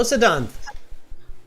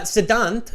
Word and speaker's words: Siddhant: I'm doing great uh siddhant am I pronouncing your name correctly yes yes you're correct now you're pronouncing it correctly thank you and where